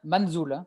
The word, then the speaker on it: Manzul: alors qu'on soit bien je prononce bien manjul ça c'est exil ouais c'est ça tu vas nous dira